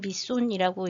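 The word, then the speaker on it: Mỹ Sơn: 밑선은 영어로 쓸 때 이렇게 써요. My son이라고 써놓고 읽기는 밑손이라고 읽는데 여하튼 요렇게 영어로 쓰니까 알고 계시면 되고요.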